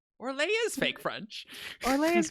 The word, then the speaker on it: Orlais: They don't say Orlais when they're speaking French. What do they say? Orlais, and they pronounce the S. What? Don't know why. What? They have an accent over the I to make sure you pronounce the S at the end. Orlais.